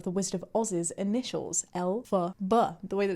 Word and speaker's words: Elphaba: original author of The Wizard of Oz's initials, Elphaba, the way that it's pronounced. See? Elphaba.